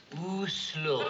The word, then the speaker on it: Oslo: Yeah, well, there's a very large city there, and I never know how to pronounce it. Is it Oslo or Oslo? Oslo.